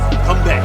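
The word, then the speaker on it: 건배: Konbae.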